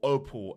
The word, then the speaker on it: Opel: brand and they're called Opel or opal as people like to call but I like to pronounce it Opel because it's o p e l so I don't know